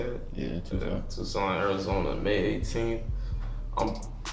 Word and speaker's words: Tucson: Yeah, Tucson.